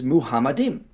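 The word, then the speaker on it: מחמדים: The way you pronounce this in the Masoretic pronunciation is Muhammadim. So in the way the Masoretics, when they added their vowel points and added their pronunciations, they pronounced it Muhammadim in the Song of Solomon.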